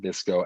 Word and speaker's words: VSCO: are going to be in that vsco i pronounce it this go app that we mentioned downloading all right not